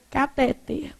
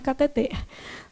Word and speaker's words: cateter: Catéter. Ô Flávio, mas aquele negócio do médico não chama catéter, não? É esse mesmo que chama cateter. Tá? Então, o certo é cateter.